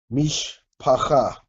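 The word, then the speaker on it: משפחה: With a shiwa is a syllable marker, so everything before it you pronounce together. So mish, pause. Oh wait, guess I can write this other vowel in here. Mish pacha.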